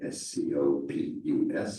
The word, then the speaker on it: Scopus: Scopus is pronounced Scopus. But Scopus is SCO, and SC before an O would be a scope sound, but SCI, SC before